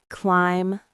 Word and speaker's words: climb: Lamb, climb, thumb. All have silent Bs at the end.